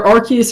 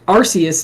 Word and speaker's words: Arceus: played uh Pokemon Legends either Arceus or Arceus depending on how you want to pronounce it because apparently both ways are confirmed to be correct so I don't know